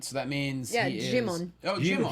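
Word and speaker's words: Djimon: Okay, the D is silent, so that means he is... Jimon. Oh, Jimon. Himon?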